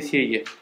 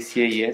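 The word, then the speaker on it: Sieyès: L'abate di Sieghe. Vi ho detto, pagina 174, vi parla di un abate che si chiama Abate di Sieghe, si scrive S-I-E-Y-E accento grave S, che era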